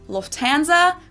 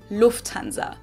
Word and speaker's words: Lufthansa: In English, people usually say Lufthansa, but in German, we say Lufthansa. So the emphasis is on the first syllable, Lufthansa versus Lufthansa.